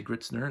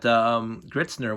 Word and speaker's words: Gritzner: i'm going to say gritzner that's the english way of pronunciation i'm sure there's a